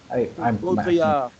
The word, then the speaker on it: Baudrillard: That's what I watched a video last night about Baudrillard, or however you pronounce it, Baudrillard. Baudrillard. There you go.